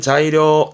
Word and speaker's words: 材料: 발음은 자이료. 자이료. 음은 자예예요. 자이료.